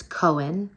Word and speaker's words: Cohen: I think it's really, I like how it's spelled. I like that there's a silent H in it. And I love that it's two syllables and that it is